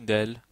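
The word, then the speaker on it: دال: Gym on a le del j'ai oublié le del le D en effet le D d ça s'écrit comme ça c'est l'équivalent de d voilà désolé d'oublier ça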